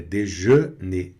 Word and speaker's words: déjeuner: E aqui no final, déjeuner, déjeuner, que aqui tem essa combinação E mais U mais N, que está aqui, né? Você não vai pronunciar an, é déjeuner, déjeuner, né?